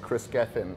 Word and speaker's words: Kris Gethin: find you on social socials so my name is spelt Chris kr is last name Gethin GE th en Chris Geffen and Leah Dolan so le aah and then